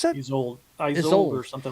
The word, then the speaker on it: Isolde: Tristan and how do you pronounce that? Isolde or something like that. Okay. Isolde, yeah.